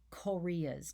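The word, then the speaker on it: chorea: of the muscles including korea's now it's not spelled like the country korea it's c-h-o-r-e-a korea's are sudden fast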